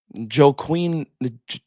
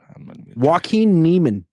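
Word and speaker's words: Joaquin Niemann: Joe Quinn. I don't even know how to say the name. Joaquin Neiman.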